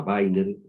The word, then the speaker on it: Weiner: Yo he estado nombrando a Weiner, que se escribe con W, se dice aquí, ¿no? Washington, ¿no?